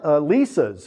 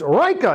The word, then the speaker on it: Leica: how to pronounce it I said what are those Lisas over there and he goes no no it's Rea you're saying it wrong he he yells at